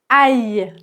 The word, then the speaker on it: aille: Et donc aller au subjonctif présent, c'est aï. Aï prononciation, c'est bien aï aï.